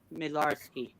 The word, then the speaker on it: Midlarsky: It sounds like how it's spelled, except for the last part. It's pronounced ski, the last part. Midlarsky.